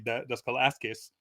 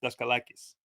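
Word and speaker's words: Daskalakis: In fact, uh I do have a cor a slight pronunciation correction to to make um however much you would like his names to be dascalasqueis. Um it's dascalakis.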